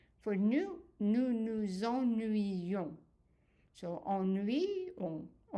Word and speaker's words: ennuyons: So ennuyons. And this Y here is pronounced as a Y.